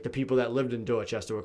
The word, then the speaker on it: Dorchester: of boston called dorchester which yeah you don't pronounce it like that probably dorchester dorchester do it like yeah dorchester like that's a chess stuff yeah yeah then